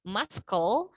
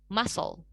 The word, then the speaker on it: muscle: Otot itu bahasa Inggrisnya bukan muscle, no, C-nya nggak kita baca, melainkan muscle.